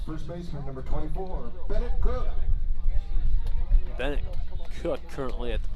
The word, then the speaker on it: Koch: Batting for the Hawks, first baseman number 24, Bennett Cook. Bennett Cook currently at the plate. But that last name is not spelled C-O-O-K. It is spelled K-O-C-H. You'd think it'd be Koch.